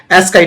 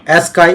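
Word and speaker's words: ASCII: आज हम बात करेंगे एस्काई टेबल के बारे में। एस्काई एस्की व्हाटएवर अगर आप Google में सर्च करोगे तो ये कुछ एस्की ऐसे कुछ प्रोनाउंस होगा।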